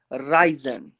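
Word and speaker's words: reisen: ई के बाद आई आ रहा है तो आई का ही साउंड आ जाएगा, ठीक है ना। जैसे यहाँ पे लिखा है राइजन, राइजन, राइजन, राइजन का मतलब क्या होता है?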